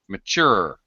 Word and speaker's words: mature: a note about pronunciation mature it's second syllable stress mature mature yeah sure little